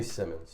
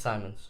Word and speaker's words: Simons: Anthony Simmons. It's Simons. It is? Yes, it's pronounced Simons.